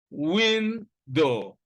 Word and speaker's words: window: Examples: window. Now, the word window consists of 2 syllables. The first syllable contains the stress, win, and the second one is unstressed, do, window.